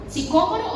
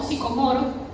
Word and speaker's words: sicómoro: árbol, que se llamaba sicómoro o sicomoro, me disculpan pero tiene acento en la primera O.